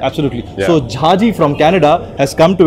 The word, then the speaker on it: Jha: And as he would like to pronounce it, Jha or Ya. That's how his name was pronounced back in Canada many years back.